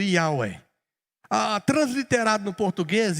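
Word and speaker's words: Yahweh: tetragrama hebraico que fala a pronúncia mais ou menos bem próxima do jeito que eu tô falando ia uai a transliterado no português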